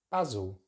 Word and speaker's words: basil: But we're going to use a short vowel sound, the same vowel sound we find in the word cat. So it's that ah sound. So baz, basil. And we've got that schwa in the second syllable as well, just before the L. Basil, basil.